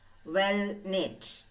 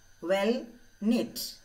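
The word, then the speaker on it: well-knit: well-being well-being next word well knit well knit uh what what happened to that word oh there's a silent word silent letter what is that selling letter well knit yes k is silent well knit knitting don't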